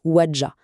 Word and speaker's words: Ouadja: Et bien, il s'agit du Docteur Alain Kosik Wadjah, prononcez Wadjah.